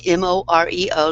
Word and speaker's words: Moreo: That's Moreo, like Oreo cookies with an M.